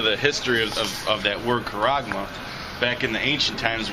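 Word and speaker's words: χάραγμα: go into the Greek, that word mark is charagma. That's how you say it in the Greek, charagma.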